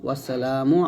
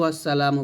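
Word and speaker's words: والسلام: তারপর হচ্ছে ছয় নাম্বারটা আমরা দেখব যে এটা হচ্ছে আসসালাতু ওসসালামু আলাইকা ইয়া রাসূল্লাহ এখানে যদি আমরা ভুলটা করি আসছে এখানে আসসালাতু আসসালামু বলি তো এটা একটা ইয়া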